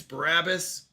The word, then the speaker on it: Barabbas: It's Barabbas, but I am standing by biopic.